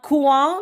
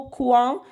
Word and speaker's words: coin: liaison ici, dans un coin de la chambre. Alors, faites regarder ici le mot coin. Regardez, ça commence par quoi? O-I-N. Par contre, le son ion commence par I-O-N, d'accord?